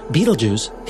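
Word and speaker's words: Betelgeuse: literally at any moment the massive star Beetlejuice yes that's really how you say it it's a glorious red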